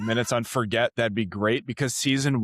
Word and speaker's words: Forget: Forget, and I'm like, wow, like I feel fancy.